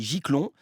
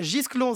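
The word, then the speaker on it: Gisclon: non parce que justement ça se prononce jisclon s'il y a un s il est pas muet hein comment prce d'accord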